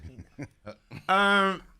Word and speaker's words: Pino: Well, jalapeno could rhyme with Right. Pino.